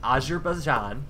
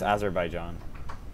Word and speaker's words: Azerbaijan: I think as herb I think it's just Azerbaijan as her by John okay sorry any Azerbaijan